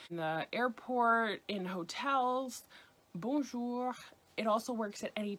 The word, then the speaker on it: bonjour: you all know, but bonjour, bonjour, bonjour. And you can say it bonjour or bonjour.